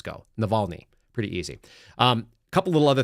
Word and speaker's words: Navalny: She can't even pronounce the name Navalny. There's a Y on the end of it. Navalny?